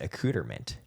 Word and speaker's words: accoutrement: Apparently it's pronounced accoutrement. Accoutrement. I like that a lot. I don't think it should be pronounced that way. But it is.